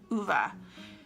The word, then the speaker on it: Ove: that I was like is it vay and then I was like let me just look it up so I went I went to the publisher website they had a video how to pronounce it and so I checked and it is ova this is a story